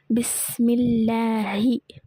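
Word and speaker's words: بسم الله: சரி, அதில் என்ன கொடுத்துருக்காங்கன்னா அல்லாஹ் என்ற வார்த்தையில் உள்ள லாமுக்கு முன்னுள்ள எழுத்தில் கெஸ்ரா இருந்தால் அல்லாஹ் என்ற வார்த்தையில் உள்ள லாமை மெல்லினமாக தர்கீக் செய்து உச்சரிக்க வேண்டும்.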